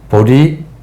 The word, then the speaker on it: 보리: 보리, 본, 무수. 보리는 보디라고 하는 인도 말을 중국어 발음을 가지고 한자로 쓴 거예요. 그래서 보디가 발음이 이제 보리로 이렇게 발음을 한 거예요.